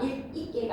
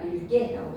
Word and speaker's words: 읽게: 어미의 첫소리 기읍 앞에서는 리을 기역으로 발음해라. 익고가 아니라 읽고 익거가 익게가 아니라 읽게라고 발음해야지.